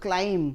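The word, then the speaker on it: climb: क्लाइम है एटा कौन B silent रही फर्स्ट ऑफ ऑल से भी हम सीटा ये कटिगला ताले ए तीनटा रहा क्लेम हो जाटा भी कटिगला ये क्लेम हो जाटा के मन रख ई साउंड आसेनी ईटा ए साउंड आसे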